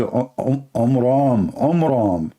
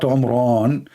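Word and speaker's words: Amram: So it's the father of Moses, his name is Omram, not Omran. So he changed the last letter with letter N instead of M, which means it used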